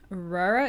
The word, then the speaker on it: Røra: Røra is how you say it.